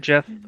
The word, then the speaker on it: GIF: Wait, do you also pronounce it Jeff? Yeah. Oh, thank God. There are other people who know how to pronounce it correctly. I never understood the GIF remark. It's GIF. Yeah, it's Jeff.